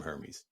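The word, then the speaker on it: Hermès: the air tab from Hermes it ain't that serious man that's hutin brother it's not that series um outside of and and and and apparently the uh the H is silent talk a see I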